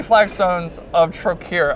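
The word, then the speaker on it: Flagstones of Trokair: So I guess I want to talk about and 3 Flagstones of Trokir, I believe it's pronounced.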